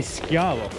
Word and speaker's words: Schiavo: Yes, but it's supposed to be Schiavo, Italian. Wait, what is it called? Schiavo.